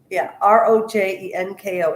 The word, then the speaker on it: Rojenko: Think of Rojerko, except think of Rojerko, like as in R-O jerk O, like R-O jerk O. But instead of jerk, it's jank, G-E-N-K. So I think that's much easier than explaining Royenko and that the J is silent.